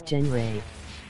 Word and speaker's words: Jen Ray: You're saying it wrong, it's Jen Ray.